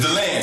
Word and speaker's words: DeLand: It's DeLand.